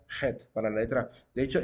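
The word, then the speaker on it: חית: el curso de hebreo él pronunciaba la letra Head no decía Cheto decía Jet para la letra de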